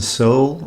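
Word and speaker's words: Soule: I think one of the funniest parts that stands out to me is the psychiatrist scene with Olan Soul or Sole. I've heard it pronounced both ways.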